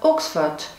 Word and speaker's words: Oxford: великобритании про город оксфорд оксфорд по-английски произносится оксфорд что в переводе означает